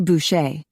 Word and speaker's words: Bucher: Officer Bucher. She pronounced it the French way, like Bush.